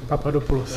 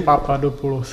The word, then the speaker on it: Papadopulos: Poćwiczymy teraz wymowę twojego nazwiska. Papadopoulos. Jeszcze raz, głośniej? Papadopoulos.